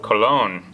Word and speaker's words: Cologne: for the city called Cologne and that's why this word may be sound so French and in German pronounce cold but in English we still pronounce the French way cologne cologne has a